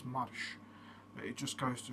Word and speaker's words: marş: And also that's called M-A-R-S, Mars. But it's not pronounced as Mars, it's pronounced as marş.